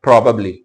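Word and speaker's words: probably: हैं प्रोबेबली प्रोबेबली इसको ज्यादा स्ट्रेस नहीं देना इसको पढ़ना है प्रोबेबली प्रोबेबली प्रोबेबली नहीं बोलना जोर नहीं देना प्रोबेबली लि बन शायद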